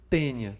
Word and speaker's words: tênia: Ambas as duas doenças são causadas pelo plateuminto tênia. Tá? Se escreve taênia, tá? Mas a gente diz tênia.